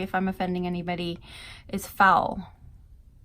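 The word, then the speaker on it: faol: I'm offending anybody, is foul. It's pronounced foil though, but it's spelled F-A-O-L.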